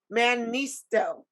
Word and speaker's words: Mannisto: Mannisto.